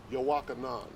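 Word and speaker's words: יוחנן: that that's the spirit yaka yakanan yeah it's how you say it in the ancient hebrew song yowakanan oh wow okay i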